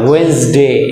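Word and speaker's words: Wednesday: ওয়েডনেসডে, এখানেও ডি উচ্চারণ হবে না।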